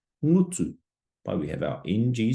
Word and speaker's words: ngutu: that we just went through, how would you pronounce the following? So our first kupu, whare, whare, house, whare. Ngutu, ngutu.